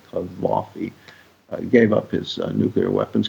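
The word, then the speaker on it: Gaddafi: in with Libya you could do that and kavi which is how it's pronounced kavi gave up his nuclear weapons because he saw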